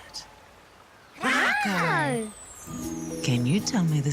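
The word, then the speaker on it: rākau: Rako. Can you tell me the sound the word begins with? Rako. R. Ka pai, r. Now try sounding out the word rako. Rako. Ra. Ka. Oo.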